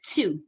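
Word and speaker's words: TEW: You can also just refer to it as two, right? Two. You got to pronounce it like that. T-E-W, two.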